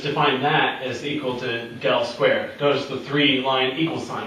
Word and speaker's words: del squared: So we have one operator, pronounced del squared. This is an upside down delta, Greek letter delta squared.